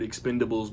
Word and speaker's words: Expend4bles: the marketing is doing I'm not pronouncing the four in the middle of the word Expendables because the four is an A on the poster and the title card and all that crap